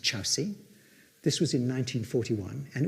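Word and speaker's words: Kyaukse: It's spelt Korksi, it's pronounced Chowsi. This was in 1941, and it was an error. The Chowsi station had already actually been audited by someone else.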